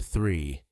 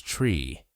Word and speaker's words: three: Take the word three. Many learners pronounce it as tree. To fix this, look in a mirror. Put your tongue gently between your teeth. Blow air softly. Du. Then add re. Exaggerate it. Do this five times slowly and carefully. Then speed up a little. Soon three will sound natural.